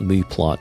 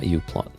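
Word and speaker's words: μPlot: Uh, so yeah, this this is Oh, it's called mu plot. It's not uplot. M I'm not sure how you pronounce it in English. Actually, in German it's mu plot.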